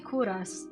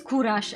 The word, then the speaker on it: Kuras: So I have to pronounce this name as Hungarian as possible.